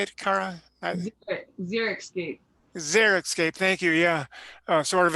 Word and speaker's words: xeriscape: xeriscape xeriscape how do you say it Cara xeriscape thank you yeah sort of environment which is